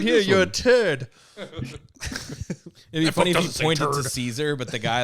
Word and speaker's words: Caesar: Kai's Kaiser he corrects him it's like it's pronounced Caesar it's Caesar you dope oh my God he talked and